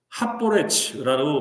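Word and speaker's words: הַפֹּרֵץ: 길을 여는 자가 히브리어로 하보레츠라고 발음한다고 합니다. 이건 뭐냐면요.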